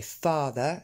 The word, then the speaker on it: father: Et father, si vous avez fait attention, tombe bien sur le premier A, father. Et ce ER, je le prononce comme dans la banane. Banana, father.